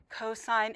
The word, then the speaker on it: cosine: like an intelligent person this is s cosine and tangent it is not sin cos and tan all right um and